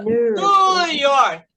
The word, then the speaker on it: New York: Fala New York, como se tivesse só um U.